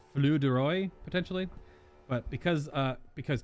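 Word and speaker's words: filles du roi: this move is pronounced flew deroy i think it's it's spelled f-i-l-l-e-s like phillies but i do not believe it's pronounced that way it's frank i believe it's flu deroy potentially but because uh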